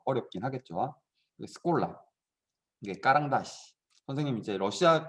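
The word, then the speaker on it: школа: 러시아어로 학교는 스콜라 스콜라 이렇게 읽는데 쉽게 얘기하면 스쿨이에요. 스쿨이라는 말이 이제 러시아 쪽에서는 스콜라라고 읽는 거죠.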